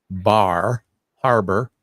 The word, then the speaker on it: Bar Harbor: I have to say it right. Bar Harbor, because in this part of the country we call it Bar Harbor.